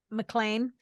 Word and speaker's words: McLean: And just when we thought we were going to be talking about AJ McLean, I still have a hard time saying it. McLean. There, that's how you say it.